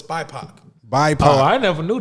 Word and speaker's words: BIPOC: Like, right now I didn't know if it was BIPOC or biopic. Like, I don't know if. Biopic. Love it. No, So- it's not biopic.